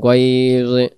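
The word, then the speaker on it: غيظ: গয়না জবর গয়জ, গয়জ, এটা হবে গয়জ।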